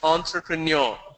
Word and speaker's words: entrepreneur: Entrepreneur is a French. It's a French origin. The pronunciation is entrepreneur.